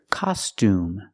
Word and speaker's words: costume: The O has the open sound ah, like hot and stop. Ah, ka, costume. And the U has the oo sound like room and food. Oo. Together, costume. Costume.